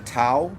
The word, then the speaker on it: Tao: And this is why you say, if you say the Tao, it's spelled T-A-O, but you mean to say D-A-O. Tao. Tao. Tao. Tao. Tao. You can't tell the difference if I say Tao. Tao.